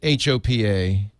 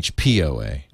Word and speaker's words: HPOA: it's said ah see she said HOA but it's really HP OA that's interesting you'd think